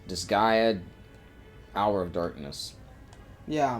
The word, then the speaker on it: Disgaea: it's not Dissidia. It'd be there's no vowel between S and G. I don't know how to pronounce it. It's... Disgaea, Hour of Darkness.